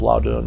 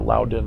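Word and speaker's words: Loudun: this the nuns of loudoun or loudon or i think it's loud doing is how you're supposed to say it that's how i pronounce it and of course if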